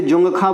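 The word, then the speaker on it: Dzongkha: लिए भाषा यहां पे जुंग खा बोली जाती है डी साइलेंट रहता है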